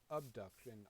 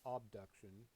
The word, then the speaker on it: Obduction: development for several years called um obduction not abduction obduction uh spelled with an O and it's uh the